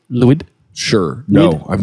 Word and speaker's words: Lwyd: ever heard of Mary Lloyd sounds like you said that wrong Mary what Mary Lewis Mary Lewis you need me to spell it for you sure l-w-y-d wood Mary Lloyd sure no I'm not